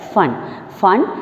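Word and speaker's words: Foehn: F-O-E-H-N will be pronounced as fun.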